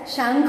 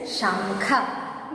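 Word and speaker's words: शंख: Okay, so whenever you used to say casually, we used to say as shank only, but the correct pronunciation is shankha.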